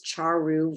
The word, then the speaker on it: Charu: My name's Charu. You pronounce it cha-cha-cha with a ru, and I use she, her pronouns.